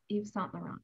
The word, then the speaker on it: Yves Saint Laurent: So the quote, well, you'll have to, do you know how to pronounce the name? Yves Saint Laurent. Yves Saint Laurent.